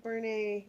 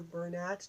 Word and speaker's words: Bernat: It's in the acrylic Bernat or Bernat, depending on how you pronounce it.